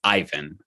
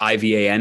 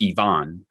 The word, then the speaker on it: Ivan: all over the world even if I were Russian you wouldn't call me Ivan over most of planet Earth ivaan is pronounced Ivon you've watched my family